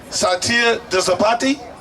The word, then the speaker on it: Satya Dosapati: I'm going to say Satya Dosapati. Oh, I did it right!